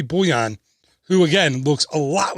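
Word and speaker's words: Bullion: of the Big Thunder mining company Barnabas T boo-yan I think it's pronounced rebby UL li o n yes I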